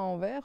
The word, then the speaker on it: Anvers: Moi, c'était juste la station de métro à Paris qui s'appelait Anvers. On ne prononce pas le S, nous.